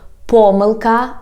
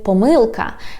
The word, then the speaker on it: помилка: people say, for example, помилка, and some people say помилка. And then you ask me, Inna, why some Ukrainian people say like this and some Ukrainians pronounce this word in another way?